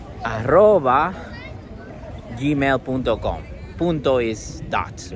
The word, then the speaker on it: arroba: We say aroba.